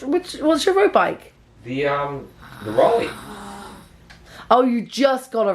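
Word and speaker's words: Raleigh: were Ollie's O'Reilly how do you say it Rolly Rolly those bikes anyway that's what I had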